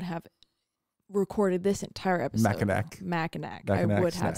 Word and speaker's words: Mackinac: minutes before we started, I found out that it's spelled Mackinac and it's Mackinac. I absolutely would have recorded this entire episode. Mackinac.